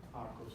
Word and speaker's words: Kharkov: Do I pronounce it right? Kharkov, is it? Yes. Yeah. Kharkov.